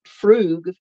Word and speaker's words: Frug: If someone is doing the Frug, and it's pronounced Froog, F-R-O-O-G.